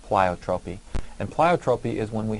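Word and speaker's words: pleiotropy: It's kind of an odd spelling and odd-looking word, but it is pronounced plyotropy.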